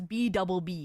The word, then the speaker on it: BWBB: Apparently, it's BB is how this this BB is pronounced.